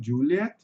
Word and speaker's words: Juliet: Não vejo pessoal tendo muita dificuldade como Juliet. Lembrando apenas, né, pessoal, que o som de J em inglês vai ter som de DJ.